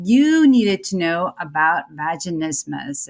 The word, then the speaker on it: vaginismus: today we're talking about vaginismus and uh as somebody had a wise man stated the pronunciation sounds similar to christmas but is not as